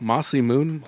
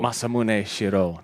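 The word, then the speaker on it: Masamune Shirow: Mossy Moon, who now? What did I fuck Corey, it up? say it right. Corey, did I fuck it up? Oh, Masamune Shiro.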